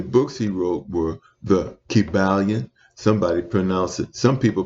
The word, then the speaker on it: Kybalion: And the books he wrote were the Kybalion. Some people pronounce it Kibulon.